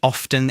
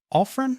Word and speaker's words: often: I've heard teachers say that often is incorrect. It is not. It's widely accepted. Use whichever feels most natural to you. Often or often.